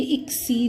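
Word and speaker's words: اکسیر: और यहाँ पे देखिए, ये इसको हम अक्सर गलत प्रोनाउंस करते हैं, ये इक्सीर है, अक्सीर नहीं है।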